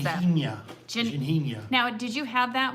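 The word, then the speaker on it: Ginjinha: How do you pronounce that? Ginhinha.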